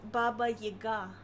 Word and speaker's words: Baba Yaga: It's pronounced Baba Yaga. The emphasis.